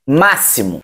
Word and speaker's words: máximo: Só que foneticamente, esse X, máximo, não tem som de X. Foneticamente, esse X aí é um S, ok?